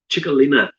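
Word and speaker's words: Txakolina: He brought out a Basque wine, which I had to look up to find out how to pronounce because I'd never heard of it before. Chicalina.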